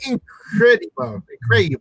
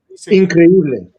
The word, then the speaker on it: Increíble: El hombre incredible. How do you say that? Increíble. Increíble.